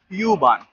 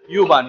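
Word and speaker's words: U-Bahn: हो एस बान और यू बान। यू बान को जर्मनी में ऊ बान बोला जाला है, काहे कि यू का प्रोनाउंसिएशन ऊ होला एजा।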